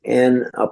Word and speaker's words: Ngoni: And she brought home a goni, which it's actually N''G''O''N''I, Ngoni is how you pronounce it.